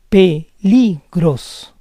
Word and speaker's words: peligros: Fourth word ends in S. The stress goes on the second to last syllable. Peligros, peligros.